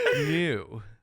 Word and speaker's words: Gnu: It's pronounced GNU.